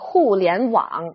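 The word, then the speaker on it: 互联网: overview the internet in chinese is called the hulian wang or simply just wang for short it means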